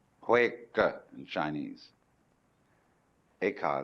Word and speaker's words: Eka: Bodhidharma had a pupil by the name of Eka, Huike in Chinese. Eka is Japanese pronunciation, like Zen is the Japanese pronunciation of the Chinese Chun.